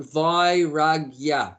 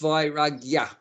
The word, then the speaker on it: vairagya: In Sanskrit, we call it vairagya. Say that. Vairagya. Vairagya means detachment. So Is that spelt with an I? V for Victor, A for apple, I for ice cream. So V-A-Y. V-A-I. V-A-I.